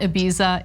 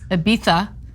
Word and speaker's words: Ibiza: you just referred to it is not ibiza it's ibiza all right i didn't want